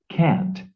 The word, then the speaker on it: can't: the negative modal can't is always pronounced with a clear vowel sound can't as in he can't